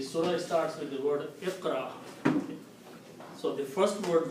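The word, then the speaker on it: اقرأ: what we usually do, we add an alif in the beginning with a kasra and combine these 3 letters, Iqra, like that.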